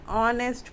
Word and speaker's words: honest: Then another one is an honest person.